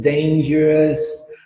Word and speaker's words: dangerous: Tu nunca vai falar ous. Tu sempre vai falar us. Serious, famous, dangerous. Tem a palavra ansioso em inglês. Anxious. E todas se escrevem com O-U-S e tu nunca pronuncia o O. Sempre só o us.